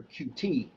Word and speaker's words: Qt: some signal something like cute designer that's what we use here that's pronounced cute in the python world you'll hear qt in the c plus plus world for instance but uh